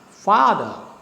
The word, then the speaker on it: father: Same is the case with another example called father. So fa is stressed, the is unstressed. So you go down, father.